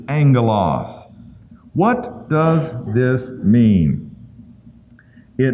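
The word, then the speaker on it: ἄγγελος: word Angel and that when you have a double g in the Greek it's pronounced with an N Angelos so that's how it's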